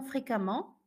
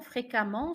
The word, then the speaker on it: fréquemment: Comme récent, c'est récemment, fréquent, fréquemment, suffisant, suffisamment, on prononce amant. Vous allez remarquer que ici j'ai dit récemment, fréquemment, suffisamment. Même si ça s'écrit E, ça se prononce à la nuance de A.